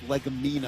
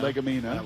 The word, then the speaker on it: Legumina: That's Legumina. Legumina. Let's make sure we pronounce that right.